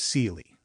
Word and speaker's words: Ceely: Then, there was Seely. Her given name was Celia, but pronounced with a long e sound as befits the Appalachian foothills of Pike County, Ohio, where she was born in 1873.